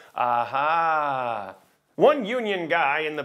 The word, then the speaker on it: AH: your right that's why the sign when you pronounce it in Dutch is aha One union guy in